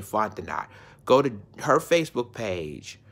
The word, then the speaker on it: Fontenot: That's she pronounced her name Fontenot.